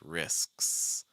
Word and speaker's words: risks: You can hear that slight break in there, right? Risks, risks, risks, risks, risks. If you don't have that break, your listener's just going to hear risks, risks, risks. And that is not the same.